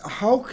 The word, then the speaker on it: Hauck: It's Hauck is the way that we've always said it, but it's spelled Hauck, H-A-U-C-K.